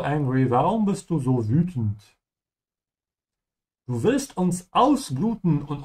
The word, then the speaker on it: wütend: Make sure to stretch your tongue forward. Say ü. Why are you so angry? Warum bist du so wütend?